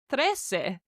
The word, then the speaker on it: trece: Pretty similar is 13, which is trece.